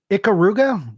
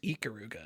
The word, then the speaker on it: Ikaruga: Icaruga, you need it. You definitely need copy of Icaruga. Johnny, pet peeve. It's pronounced Ikaruga. It's like an E, not an I.